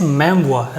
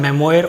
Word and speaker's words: memoir: It is pronounced as memoir rather than memoir or something like that, and from French it came into English and became one of the genres of historical writing.